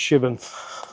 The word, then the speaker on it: Shipbourne: app and it's spelled ship born but it's pronounced shibon and uh as I've already said it's an